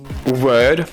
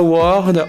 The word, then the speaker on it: word: mots à vous dire Word ou bien Word mais pas Word ou Word ou Word c'est un E qui s'étire en anglais britannique ou un e en anglais américain cette prononciation est une exception pour orthographe or qu'on retrouve avec work et World c'est parce que ces